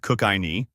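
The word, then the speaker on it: Kookynie: Kini, pronounced Kukinei, though no one ever gets it right, was once a glittering star in Western Australia's gold rush era.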